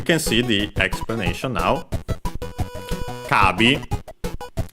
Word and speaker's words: カービィ: Kabi Kirby of course simply pronounced in Japanese because they don't have the h sound and so it becomes long a uh the possessive particle